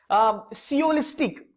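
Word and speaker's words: sciolistic: सियोलिस्टिक, इसमें एस आपका साइलेंट रहेगा बाय द वे.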